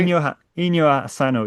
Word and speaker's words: Inio Asano: I was going to go with Inio Asano. Yeah, that's perfect. Is that right? Ino Ino Asano.